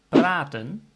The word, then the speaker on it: praten: But if your word is to talk, praten, ik ben met jou aan het praten, I'm talking with you, and there's one consonant, the T after the A, so the pronunciation is A. The vein in my arm, that's ader.